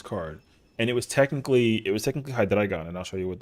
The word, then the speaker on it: Hydreigon: And I was like, "It's Hydreigon. It's German." And he was like, "The card's from Germany?"